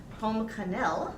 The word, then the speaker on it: Pomme Cannelle: And his piece is called Apple Cinnamon Pomme Cannelle is the pronunciation, written in 2007.